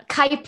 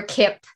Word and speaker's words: Kyp: yeah so kype or kip the official pronunciation it is kip but like you i